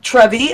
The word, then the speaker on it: TREVi: Okay, so everybody, I just want to let you know, this is TREVi. Am I saying it right? Right. Okay. Just like the fountain.